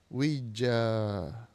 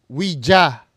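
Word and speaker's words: Ouija: board ano baang basa sa wiji ba wija wija Tingnan natin Paano siya basahin pronunciation wiji wija Ayun Pare Tama ako wija pwedeng wija pwedeng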